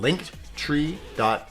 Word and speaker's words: Linktree: But the clickable link is called linktree.ee at The Reckless Experience, pronounced Linktree.